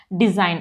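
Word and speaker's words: design: remains silent before N अगर ए से पहले जी आ जाता है तो जी साइलेंट हो जाता है फॉर एग्जांपल डिजाइन अब देखिए डी ई एस आई जी एन तो जी एन तो डिजाइन जी साइलेंट हो गया एन की प्रोनंसिएशन आ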